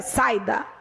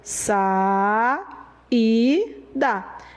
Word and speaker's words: saída: do hiato olha saída você não pronuncia saída se pronuncia sa e da e se separou de